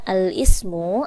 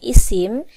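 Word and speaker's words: الاسم: Cara bacanya, cara tulisnya al-ismu atau biasa disebut dengan isim.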